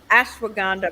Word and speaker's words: ashwagandha: it it's Ash go what is it hun ashwagandha my I have a very dear friend who